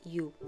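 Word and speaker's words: 鱼: Рыба читается по-китайски «ю», так же, как и счастье.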